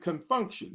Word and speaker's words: Con Funk Shun: and be careful because this has a funny spelling and they spelled it out they said we spell it like this we call it confunction c-o-n-f-u-n-k-s-h-u-n and they begin to